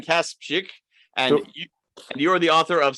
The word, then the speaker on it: Kasprzyk: today's guest is let's see if i can pronounce your last name right cass chick perfect all right let's hear you pronounce it i kaspick and you're the author